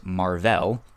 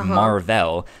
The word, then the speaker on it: Mar-Vell: His name is Mar-Vell. Someone pronounces it and says Marvel, and so hence the name Captain Marvel, and he's the first Captain Marvel.